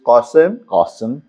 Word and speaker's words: Ghasem: Okay, my actual name in Persian is Qasim. Okay. Because not because actually, and it's spelled as Ghasem because there is no Qaf alphabet in English or any other language, not including Arabic.